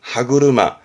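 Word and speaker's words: 歯車: 더 있네요 어렵지 않죠음 뒤에는 차가 있잖아요 그래서 발음은 하구루마 하구루마 이게 뭐냐면 이거예요 그러니까 치아라는게 있고 차라는게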